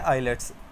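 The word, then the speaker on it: islets: आइलेट्स एस साइलेंट करके पढ़ना है आपने।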